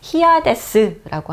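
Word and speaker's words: Hyades: 있는데요 성단 이름을 붙였어요 그래서 우리 영어로 발음하면 하아스 어 뭐 히스 이렇게 발음할 수가 있는데 우리 히아데스고 한국말로 합니다 그래서 히아데스 성단의 역사를 탐구를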